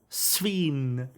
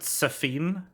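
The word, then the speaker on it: Sphene: Sveen. I know it's Sveen, but I want to want to pronounce it Safine because that's funny.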